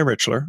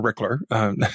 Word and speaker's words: Richler: And it's by Mordecai Richler, or Rickler, depending on how you want to pronounce it.